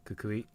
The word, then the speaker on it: Kukui: Kukui.